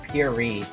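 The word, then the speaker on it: purée: I put the accent on the wrong E. It's puree.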